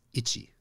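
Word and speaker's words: いち: and the word for one in Japan is ity just like oh I'm scratching I'm itchy so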